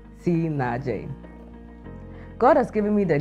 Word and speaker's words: CNAAJ: for nam and j for jomo it is pronounced si naje god has given me the gift to love